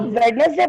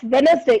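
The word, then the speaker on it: Wednesday: listen ब बेटा listen आप वेडनेसडे बोल रहे हो वेडनेसडे मत बोलो इट्स वेनसडे इसमें जो डी होता है वो क्या होता है साइलेंट होता है वेनसडे थर्सडे फ्राइडे एंड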